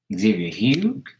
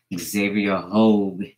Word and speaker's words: Xavier Hogue: Xavier Hugh? Xavier Hodge? No, Xavier Hogue. You say it like Vogue.